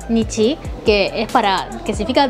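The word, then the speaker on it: 日: el de sol, que en chino se dice R, ¿no? En japonés Depende. Depende del contexto, se puede pronunciar totalmente distintos. Entonces, por un lado tenemos, por ejemplo, se puede decir Nichi, que es para, que significa día, ¿no?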